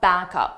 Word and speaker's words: backup: We shoulda had a backup plan. Let's take a look at the linking between back up. This is how native speakers combine sounds, so 2 separate words will sound like one word.